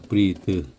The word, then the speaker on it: breathe: 근데 여기다 e를 붙이면 breathe가 됩니다. breathe. 그래서 breath, 요건 breathe. 발음이 바뀌어요.